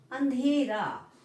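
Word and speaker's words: अँधेरा: अंधेरा, अंधेरा, अंकी बिंदी से काम नहीं चलेगा यहाँ पर। ठीक है, अंधेरा, क्या वो शब्द क्या है, अंधेरा, अंधेरा, यानी नाक और मुंह दोनों का उच्चारण से हमारा शब्द क्या बना, अंधेरा। ठीक है, तो हमें चंद्र बिंदु का प्रयोग करना पड़ा।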